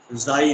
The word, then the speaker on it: chi: Less is small, कुछ लोग इसको जाई भी प्रोनाउंसिएट करते हैं। ओके, काई या जाई।